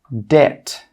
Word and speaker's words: debt: The second rule with B is that B is normally not pronounced when it comes before the letter T. Some common examples are debt, subtle, doubt. Again, you can see here that we're not pronouncing the B in all of these words.